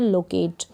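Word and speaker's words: locate: है, टी को ट, और लास्ट में ये जो ई है इसको प्रोनाउंस नहीं कर रहे हैं, लोकेट। टी का उच्चारण यहाँ पर लंबा है अगर लास्ट में ई है, इसलिए लोकेट।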